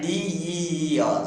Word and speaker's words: deer: Dear teachers and students, don't differentiate in pronunciation D-A-R and D-E-E-R. Some people pronounce the word D-E-E-R as a deer. No, no. I'm sorry to say. D-E-E-R also D-E-E-R should also be pronounced as deer.